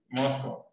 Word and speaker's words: Moscow: Como que fuera una mosca, pero masculino. Sí, así, Moscow.